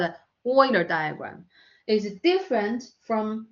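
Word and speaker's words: Euler: thoughts okay Oiler the the pronunciation is Oiler not uler is a Germany Oiler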